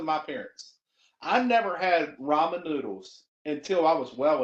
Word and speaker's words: ramen: those first of all it's Ramen it's not Raymond it's Ramen tomato tomato